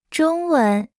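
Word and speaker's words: 中文: 中中文文中文中文中文中文中 Se pronuncia con el primer tono. 文 Se pronuncia con el segundo tono.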